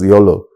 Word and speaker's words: YOLO: the you know uh the abbreviation you can pronounce as YOLO Network which is very popular